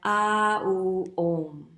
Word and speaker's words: Om: So when we chant Om, we don't actually chant Om, we chant A, O, Om. So 3 parts, and that sort of generates the vibration.